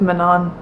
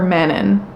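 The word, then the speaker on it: Manon: one of my favorite I hate saying Manan cuz the whole time I read the book I called her manin in my head and I personally like manin better than Manan but apparently Manan is how you say it according to sjm but she's easily one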